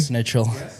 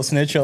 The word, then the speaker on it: Schnitzel: of schnitzel. we do. You're such a You cunt. love Snitchel, bro. I like how you mispronounce it too. It's really good. Schnitzel. Snitchel.